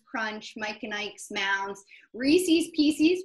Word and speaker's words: Reese's Pieces: We have Pop Rocks, Milk Duds, Payday, Razzles, Nerds, Crunch, Mike and Ike's, Mounds, Reese's Pieces, which is how you pronounce it, and Charleston Chew.